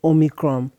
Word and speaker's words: Omicron: Talking about this pandemic, I know there's a new variant, this Omicron.